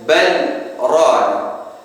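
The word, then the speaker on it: بل ران: Di dalam surah Al-Mutaffifin ayat ke-14, maka Imam Hafiz An Asim dari Jalur Syatibiyah membacanya dengan saktah pada ayat bal rana, kalla bal rana, maka harus kita saktahkan.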